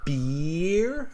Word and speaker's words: beer: So beer, I pull on my mouth like a smile, beer. And then with the animal, it's bear. I open my mouth into a more of a round shape.